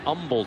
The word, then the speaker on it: Humble: Jackie Battle, the junior from Umble, Texas. I pronounced that right.